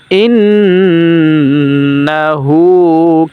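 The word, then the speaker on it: إِنَّهُ: নামাজে ভুল হবে সূরাটা কিভাবে পড়বফা উচ্চারণ করতে হবে। তারপরে ইন্নাহু কানাতা ইন্না এখানে গুণনা করতে হবে।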